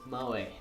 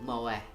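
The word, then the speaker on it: moe: Fenneman poses it's exceedingly mo e mo a mo e they're not a few people pronounce it mo a for some reason don't know why Natsuki grabs my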